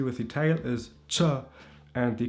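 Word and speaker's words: qen: The ch is a Q in English, but in Albanian, it's a ch.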